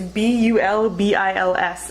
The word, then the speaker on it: bulbils: I'm not sure how to pronounce it, I will admit. It's bulbils, and I'll link to some resources about the bulbils.